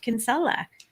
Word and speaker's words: Kinsella: michelle hello amelia hi oh i just love the way you say my name in the british way it's not spelt in the italian way so it's it's just